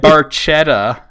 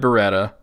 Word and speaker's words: Barchetta: now I might assume that he means red Barchetta but here's the thing he's got red Barchetta listed at number 13 yeah but spelled differently it's red Barchetta not red beretta number 14s limelight fantastic song and then number